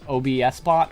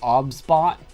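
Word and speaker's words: OBSBOT: If I wanted to, it's OBS bot or sorry, it's pronounced Ob bot. You don't say the OBS, it's Ob bot.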